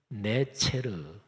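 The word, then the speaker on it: נצר: 자, 가지라는 단어를 히브리어로 발음하면 네체르 이렇게 발음합니다.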